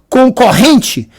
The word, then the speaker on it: concorrente: Mas quando a gente vai falar do concorrente, a pronúncia é de apenas um R.